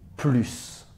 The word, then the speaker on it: plus: qu'elle préfère et enfin attention à la prononciation du mot plus qu'en plus a le sens de davantage et qu'il modifie un verbe on prononce le S par exemple je peux